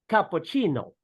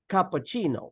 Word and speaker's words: cappuccino: teacher that in these with these two words we pronounce the Double C like ch the first word is cappuccino cappuccino so that's of course